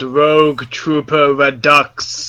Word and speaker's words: Rogue Trooper Redux: It is pronounced Rogue Trooper Redux, you heathen.